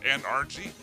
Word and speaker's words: NRG: I mean, it's pronounced NRG. It's not energy.